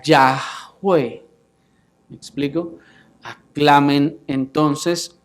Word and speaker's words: Yahweh: ya en otras oportunidades la manera más correcta de pronunciarlo habría sido ya de manera que por esto Aleluya dice aclamen a Yahweh me explico a clamen